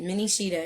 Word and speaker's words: Mini Cheetah: let me show you and that's how you say it mini shida in case anybody was like how do you say that name there you go Mini shida now with